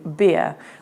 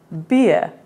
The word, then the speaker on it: bier: which I was pronouncing be R which actually should have been beer like the drink which then makes the